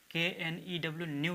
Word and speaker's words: knew: KNEW, न्यू, न्यू का मतलब देखिए न्यू जो है नो